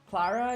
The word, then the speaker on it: Clara: Yeah, because for me, I would pronounce it Claire if it was C-L-A-I-R-E. Clara is Clara, right? Just Clara.